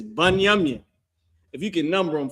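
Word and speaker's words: בנימין: How you say that in Hebrew is Banyamin.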